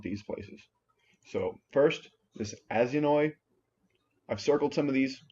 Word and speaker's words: Aizanoi: This one's kind of hard to pronounce. It's Aizanoi, Aizanoi.